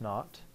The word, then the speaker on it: naught: All right, so delta H naught, that little circle, pronounced naught, represents standard state.